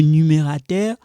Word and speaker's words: numérateur: So I want you guys to know how to pronounce this in French, okay? Le numérateur, le dénominateur, okay?